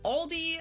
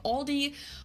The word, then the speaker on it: Aldi: In English people usually pronounce this Aldi. I think I've also heard Aldi before, but I think most people say Aldi. I say Aldi.